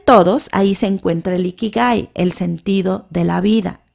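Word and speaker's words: 生き甲斐: Eh, usted ha escuchado del iki iki ikig a ver, yo ahorita le voy a decir bien cómo se se pronuncia del ikigai. Ikikai, que es una palabra japonesa y se refiere al sentido de la vida.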